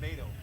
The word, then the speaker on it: Mado: I say Mado. No, that's perfect.